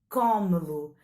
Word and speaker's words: come-lo: Tu come-lo. Portanto, é acentuada não na última, como em comê-lo, mas na penúltima sílaba.